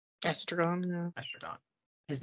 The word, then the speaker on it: Estragon: It's literally estrogen with an O. Oh, no, it's actually not. Estragon. Estragon, yeah.